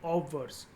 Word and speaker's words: obverse: ये ऑब्जर्व नहीं है, ध्यान से इसकी स्पेलिंग देख लेना, इट इज़ OBVERSE, ऑब्वर्स।